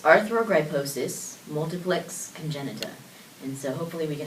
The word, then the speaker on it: Arthrogryposis multiplex congenita: So it's Arthrogryposis, multiplex congenita.